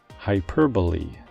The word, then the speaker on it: hyperbole: down the list is a four-syllable noun that refers to something that adds emphasis humor or drama to a statement by exaggerating it to an extreme degree the pronunciation for this word is hyperbole hyperbole here are a few